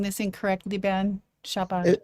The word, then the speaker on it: Chabad: Chabad. It uh Chabad. Yeah, but it's not the C H.